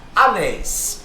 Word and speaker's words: anéis: Anéis. Perceba, anéis é um termo oxítono. Ó, separei. A sílaba tônica é a última.